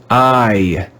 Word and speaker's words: eye: read with one sound we read this word with the sound i i we don't mean i as in i am a teacher but the eye that's in your head your eye that can see e-y-e spells i this is another irregular